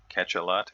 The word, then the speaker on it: Cachalot: As you can see in this game, we've got Alf Radagast playing the Tier 6 Cachalot, or Cachalot, depending upon how you want to pronounce that.